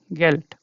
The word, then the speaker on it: Geld: Okay, geld. Yeah, so geld is money. Okay, and the sound, because it's coming at the end of the word, so it changes to t. So the sound comes t.